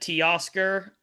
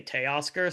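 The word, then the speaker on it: Teoscar: Tea Oscar. Uh, some people pronounce it T Oscar. Um, but like in Spanish you say Tea Oscar, so that's how I always say it, but people pronounce it both ways.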